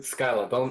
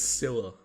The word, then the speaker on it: Scylla: Like, how No, don't pronounce it Skyla. It's not Skyla. If you say Skyla, he's gonna get mad at you. Okay, good to know. So it's Scylla.